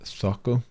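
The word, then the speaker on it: Zoco: Pronounced Thoko.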